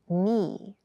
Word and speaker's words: knee: it feels quite hard keep in mind yes this word begins with a K in spelling but the pronunciation is knee the boy fell and